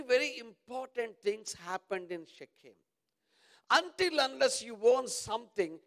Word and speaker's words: Shechem: Yeah, I said it right. Oh, thank you, my brother. You are very kind to me. Shechem is right.